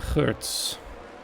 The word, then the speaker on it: Geurts: And if you're wondering why you're pronouncing that last name so strangely, that's actually how you pronounce it in Dutch. Since I'm Dutch myself, I'm having a very easy time pronouncing last names from Dutch drivers.